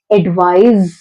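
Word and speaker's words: advise: जहां पर सी है वहां पे हमको एडवाइस लेकर आना है एंड जहां पर एस है वहां पे हमको जेड का साउंड लेकर आना है. एडवाइज, एडवाइज.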